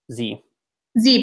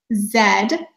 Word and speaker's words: Z: said but America it's Z Z but I always find this one funny is that we say Zed but we say zebra and in British like